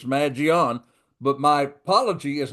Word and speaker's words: Mangione: I've been calling him Maggiani. Well, it's not Maggiani, it's Magion.